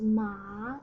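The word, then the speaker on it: 马: And the right hand part is a character by itself pronounced as ma, it means horse, but here only the pronunciation is borrowed, but we change the tones from third tone to first tone.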